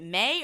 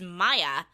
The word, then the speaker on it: Maya: started I was like is it may or Maya and he's like it's Maya to OSHA's twin no it's